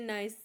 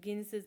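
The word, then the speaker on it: gneiss: इट is mainly composed of Archaean नाइस। इसमें जी silent रहता है। लेकिन मैंने फ्लो में गिन गिसेस पढ़ दिया। जी साइलेंट है। ठीक है? नाइस है यह।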